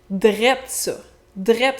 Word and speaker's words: drette: Drette ça, c'est la déformation du mot droit, encore une fois avec le même trait de prononciation. Donc droit devient droite qui devient drette.